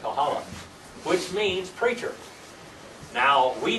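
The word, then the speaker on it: Kohelet: Kohalet. Kohalet. It reads from right to left. Kohalet. All right, Kohalet.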